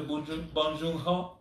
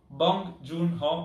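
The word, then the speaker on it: 봉준호: oscar clamore suscitato subito bon bon joon ho bong joon ho perché il nome più sbagliato pronunciato peggio ma secondo me in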